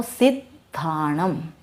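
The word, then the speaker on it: सिद्धाणं: तो जैसे हम बोलेंगे सिद्ध, द का उच्चारण हमारे यहाँ थोड़ा सा जीभ के साथ हो जाना चाहिए। फिर हम बोलेंगे धाणम, जैसे नमो सिद्धाणम, यह शुद्ध उच्चारण होता है।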